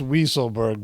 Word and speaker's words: Weisselberg: it so it's pronounced wieselberg buddy weasel as in weasel but to me that's